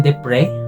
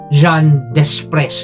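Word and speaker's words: Jean Desprez: sila This is called Bal vers ng Jean depr or kung babasahin ninyo John Des but it is pronounced de PR um this one also uses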